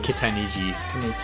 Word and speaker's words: Kitaniji: Pronounce the I's as E's and I think you'll be okay. Oh, Kananji. Kitaniji.